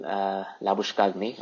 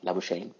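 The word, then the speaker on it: Labuschagne: I think again Harrison la bouche Cagney or la bouche a the way they pronounce it so this guy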